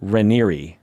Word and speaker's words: Raniere: It's such a weird last name because it's spelled like Raniere. Yeah, that's what I thought it was. Like Mount Rainier. Raniere. But it's spelled Raniere. And it's pronounced Raniere.